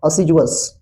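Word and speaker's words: assiduous: इसका प्रोनाउंसिएशन है असीजुअस।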